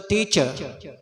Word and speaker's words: teacher: And we pronounce incorrectly, tisha, tisha. The commonly used word this word we use the teacher, long vowel sound, and you have to stress on th. So teacher.